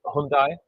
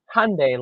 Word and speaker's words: Hyundai: where they were like Hyundai like a Sunday or something like that and so but that's not how you say it in what Korea I think that's Korean but yeah thanks for